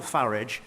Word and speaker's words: Farage: of French fascists Nigel Farage and Vladimir Putin well now I'm glad he takes the the English pronunciation of ferrets rather than the rather policy foreign sounding one that he seems to prefer I think that's a